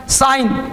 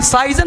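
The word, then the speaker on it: sign: करके, है ना, रिजाइन, साइन, साइन, साइजन नहीं बोलेंगे, साइन, है ना।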